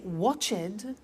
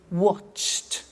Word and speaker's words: watched: We don't say watched, we eliminate the E and we say watched.